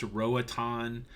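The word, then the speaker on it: Roatán: funny Ronnie Gilbert I know that Roatan is pronounced Rohit on yeah if you guys are new here you'll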